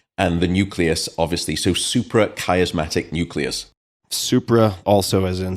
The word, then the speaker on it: suprachiasmatic: Suprachiasmatic nucleus, and it refers to the chiasma, which